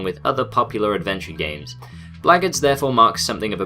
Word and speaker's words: Blackguards: This game's name is pronounced Blackguards. I checked and that's definitely how you say it.